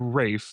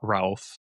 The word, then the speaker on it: Ralph: I think uh uh Rayon Williams, Rafe, not Ralph.